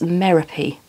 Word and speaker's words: Merope: And the Diapolese sisters, Maya, Ali, Star, Cece, Tiggy, Electra, and the one I've been calling Merope for absolutely ages, but of course it's not, it's Merope, which is actually a really lovely name.